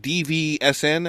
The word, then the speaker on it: DVSN: And their name is spelled weird. It's like DVSN, I think.